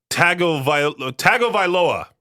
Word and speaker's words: Tagovailoa: In pro football news, Miami Dolphins quarterback Tua Tagovailoa, I don't know how you say this guy's last name, Tagovailoa, that's how you say it, is preparing to return after his latest concussion.